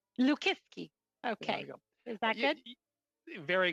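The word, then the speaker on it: Lukiwski: name it's a tough let's pronounce it it's l liski liski okay is that good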